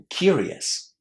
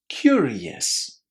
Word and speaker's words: curious: If you'd like to learn a little trick to say this word correctly, try to remember that it consists of two words. Cure and yes. Curious.